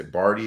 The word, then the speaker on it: Barty: players in the world actually i'm gonna say barty is how you say her last name ashley